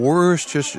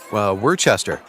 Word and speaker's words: Worcester: Like easier than pronouncing Worcester. Nope, Worcester.